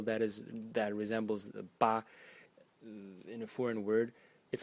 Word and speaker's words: 巴: detailed about this so the first character is pronounced ba or ba without any tone So ba in the